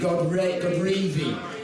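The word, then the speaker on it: Godrevy: Mark, I was stood on the steps at Keith, how do you pronounce it? Godreevy.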